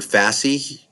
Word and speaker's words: Fasci: So it'll pronounce it for me. Let's look up this word fasci or fossy here.